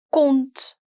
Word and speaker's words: compte: Je voudrais ouvrir un compte. Un compte, where my P is silent.